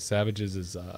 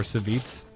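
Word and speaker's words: Savjz: frustrated with breaking out of the tens, was Savage's Hunter deck. Or Savits, as apparently we're supposed to be calling it. Yeah, it's pronounced Savits.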